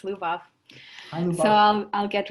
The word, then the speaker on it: Lubov: Yes, you actually pronounced it correctly. It's Lubov.